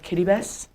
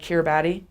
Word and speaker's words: Kiribati: My husband served his mission on this tiny island in the middle of nowhere called Kiribati, or it's spelled like Kiribati.